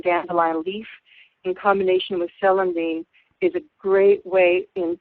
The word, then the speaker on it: celandine: her, I used ginger and an herb called celandine, chelidonium. I'll spell that because it's a weird name, right? The English name is C-E-L-A-N, D as in dog, I, N as in Nancy, E, celandine, or celandine.